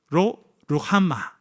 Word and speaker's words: 로루하마: 로루하마. 로루하마라고 읽는 것이 아니라 로루하마라고 읽어야 됩니다.